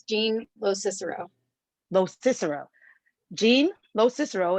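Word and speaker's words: LoCicero: last name as well I'm really horrible with pronunciation it's Jean Lo Cicero Lo Cicero Jean Lo Cicero is the legal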